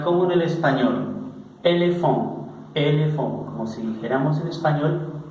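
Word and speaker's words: éléphant: Por ejemplo, vamos a ver la palabra elefante. La palabra elefante, bueno, se pronuncia, dijimos, como en el español, elefant.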